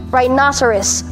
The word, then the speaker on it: rhinoceros: abbreviate this to rhino rhinoceros rhinoceros the stress is on the second syllable and for another strange reason no here becomes na rhinoceros rhinoceros rhinoceros next